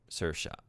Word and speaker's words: Saoirse: That's how you pronounce Saoirse. There's an actress named Saoirse Ronan who was in quite a few films in the last half decade.